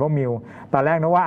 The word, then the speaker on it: Mu: ชื่อ ว่า เชื้อ มิล Mu อ่าน ว่า มิว ตอน แรก นะ ว่า